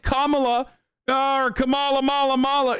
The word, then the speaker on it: Kamala: yeah he said it right like he said Kamala ah Kamala Mala Mala it's like weird it's